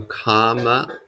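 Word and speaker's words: kāma: So kama and kamma. So kama is sensuality. Kamma is action. Karma. Is it spelled the same? No. How is it spelled? So K, A with a line over, M-A. So kama, sensuality. And then K-A-M-M-A, kamma, action.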